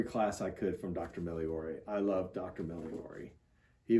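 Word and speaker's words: Migliore: by move my hand daniel miliori is his name miliori he was a theology professor at princeton seminary the g is silent that's right and he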